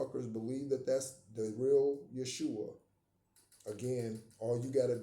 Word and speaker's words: Yeshua: It is true that there was no J in their Hebrew language and therefore their name was spelled with a Y and it is pronounced Yeshua and it is not Jesus.